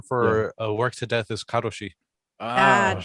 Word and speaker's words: karoshi: way, the term for work to death is karoshi.